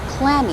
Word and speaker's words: clammy: As you say, the stress goes on the first syllable, clammy.